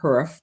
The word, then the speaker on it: Hurf: Previously, he was the Herbert Hurf. Did I pronounce that right? Is it Hurf?